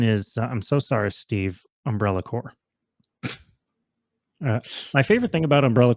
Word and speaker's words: Umbrella Corps: Umbrella Core. My favorite thing about Umbrella Core is that half the people who love that game call it Umbrella Corpse. And that feels more appropriate than pronouncing it correctly.